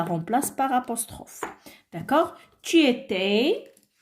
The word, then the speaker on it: étais: Tu étais, le S à la fin ne se prononce pas.